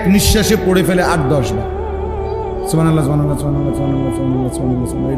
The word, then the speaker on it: সুবহানাল্লাহ: হা এটা হলকের মধ্যখান থেকে উচ্চারিত হইতে হবে। সুবহানাল্লাহ করলে হা তো উচ্চারণ হয় না, তা তো অশুদ্ধ।